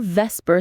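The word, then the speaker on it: VSEPR: That's where Vesper theory comes in. Vesper. Spell that out.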